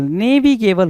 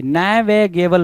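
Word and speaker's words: navigable: रहा है भाई नेविगेबल नेविगेबल होता है भाई नेगेबल नहीं होता है सो नेविगेबल बोलने की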